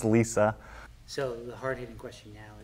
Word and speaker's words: LLESA: or LLESA? LLESA. So how do you pronounce it? Is it LLESA or LLESA? It's pronounced LLESA.